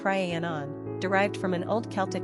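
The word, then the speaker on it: Rhiannon: modern version of the Welsh female name ranan pronounced Ranon derived from an old Celtic name Rona meaning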